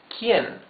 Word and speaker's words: quién: You can see that the U is muted. You don't read this que. You read this que. So, this is que and this is quién. The U has no sound.